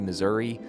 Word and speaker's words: Missouri: know just who's right those who say Missouri or those who say